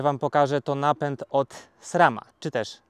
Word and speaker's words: SRAM: Ja będę mówił SRAM AXS. Tak jak jest w Polsce napisane, tak ja będę to czytał. Nie SREM AXS, tylko SRAM AXS.